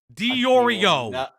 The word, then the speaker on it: DeOrio: DeOrio! D motherfucking Oreo! Never say it right.